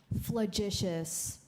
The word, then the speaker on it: flagitious: Flagitious.